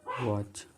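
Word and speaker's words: watch: ही लिख दिया इसको, वह वॉच, डब्ल्यू से स्टार्ट होता, टी जो है इसमें साइलेंट होते हैं, वॉच, डब्ल्यू है।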